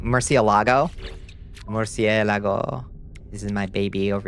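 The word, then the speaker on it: Murciélago: I say it like an American. Murcielago.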